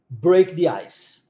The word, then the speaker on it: break the ice: Break the Eyes vamos lá preste atenção na pronúncia e Repita comigo Break the I Break the Ice muito bom fique sempre alerta para essas junções